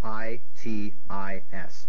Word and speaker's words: itis: that means quote unquote inflammation of parkland keith i t i s correct pronounced itis here's your bonus for ten points